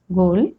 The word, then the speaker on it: ghoul: Rule number 3, H is often not pronounced when it comes after C, G or R. Like in these examples, choir, chorus, echo, ghastly, aghast, ghoul, or rhinoceros, rhyme, rhythm.